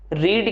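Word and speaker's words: read: अगर मैं रीड की बात करता हूं, इसकी जो V2 की प्रोनाउंसिएशन होती है वो रेड हो जाती है और V3 आपका रेडी होता है।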